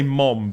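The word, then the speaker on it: mum: I say mom because Americans spell it incorrectly. It is M-U-M, mom. So all of the Americans in the audience, basically, you're fucking wrong.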